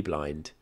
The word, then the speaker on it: Blind: But you pronounce Blind correct now.